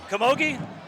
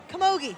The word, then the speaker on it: camogie: And how do you pronounce that name? Camogie? No, Camogie, yes. Camogie.